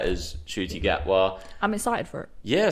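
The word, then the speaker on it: Ncuti Gatwa: so i'm hoping i'm saying that right as shooty get well i'm excited for it yeah same i mean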